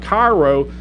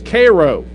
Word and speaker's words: Cairo: sometimes you know when you're talking about Cairo no it's Koo that means a lot